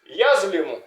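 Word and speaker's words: يظلم: le plus important, je le répète et je le redis, que c'est l'usage de soukoun. Voilà, comment prononcer dans n'importe quel mot. Voilà, yazlimu, yazlimu.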